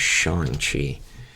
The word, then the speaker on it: Shang-Chi: So, Shang-Chi has come out. Or I think the correct pronunciation is Shang-Chi, if I remember correctly.